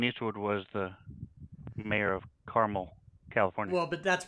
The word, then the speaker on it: Carmel: so like clint eastwood was the mayor of carmel california well but that's pronounced carmel but yeah same thing what would your guys's